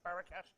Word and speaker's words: Barakat: Barakat?